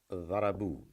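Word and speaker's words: ضربوا: And there is an alif, silent alif, which is added at the end, playing no role whatsoever in its pronunciation, in its reading, but it's just customarily used for the purpose of writing, which really means dharabu means they beat up.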